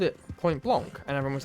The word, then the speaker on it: Point Blanc: It's Point Blanc. It's spelled B-L-A-N-C. It's Blanc. It's not point blank.